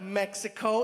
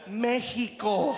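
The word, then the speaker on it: México: For me, it's not Mexico, it's Mexico.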